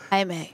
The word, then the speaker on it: Jaime: Nice pronunciation. Yes. See, yes, close. I'm there. I'm not there. Jaime.